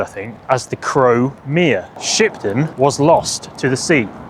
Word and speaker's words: Shipden: The original settlement was a place called Shipden, or at least its modern day pronunciation, Shipden. Back in the times of Old English, it would have been sheepdenner, or sheepden.